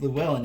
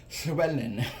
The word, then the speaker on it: Llywelyn: It's not actually pronounced Llewellyn in Welsh, it's Llywelyn or something like that.